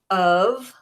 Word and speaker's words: of: trick words this week: of, O-F, of. It sounds like a V, of. Sounds like you'd spell it v with a V, but it's O-F, of.